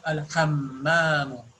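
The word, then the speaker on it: الحمّام: See here before, uh, after kha, there is a meme and there is shadda on it. So you have to pronounce as Al Hammamu.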